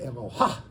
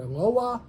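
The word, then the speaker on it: אלוה: A lot of people say Eloha. First of all, it's Mila El, and it's what we call the Patach Kanuva. It's either Eloah or Eloah.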